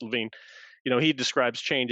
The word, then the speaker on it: Lewin: of the methodologies kurt levine we talked about in mhr and we talked about it in um organizing for change kurt it's spelled lewin but it's pronounced levine you know he describes